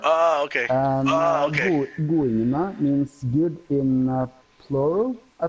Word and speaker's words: Goingene: Goingene. And that's the right pronunciation, I believe.